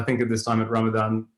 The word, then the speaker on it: Ramadan: alaikum everyone and um without getting into the debate of ramazan versus ramadan i would say that's how you say it in india and pakistan so um i hope